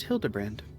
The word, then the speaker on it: Hildibrand: It's pronounced Hildebrand.